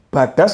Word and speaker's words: Badas: Bedes Garaj ini bacanya bedes atau badas atau gimana, Mas? Badas. Badas ya?